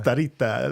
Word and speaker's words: Starita: It's a local indoor place, Starita. Did I say it right? That's pretty close. Yeah. No. You said it more like an Italian would. Starita. Yeah. Starita.